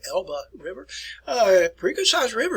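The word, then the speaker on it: Elbe: you arrive at the elba river that's where it's pronounced here folks you can see it right here it's elba not elves in german we always pronounce the last e elba river uh pretty good-sized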